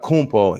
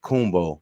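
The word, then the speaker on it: Antetokounmpo: his last name and I read somewhere that the African pronunci uh pronunciation he says is like like jumbo gumbo it's not kunpo he pronounces kumbo that's how the Africans pronounce it but because he has great citizenship whatever like that he had to pronounce it the great way so it's Auntie tacompo but he says it kumbo like gumbo whatever like that um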